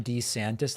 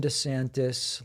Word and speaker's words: DeSantis: it bony Ron desantises it appears he changed the pronunciation of his own last name over the past few years to better align with what the polls were telling him voters preferred I'm not kidding watch